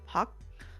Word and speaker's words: Pak: Pak kind of sounds like park, but the K gets really quiet. Pak?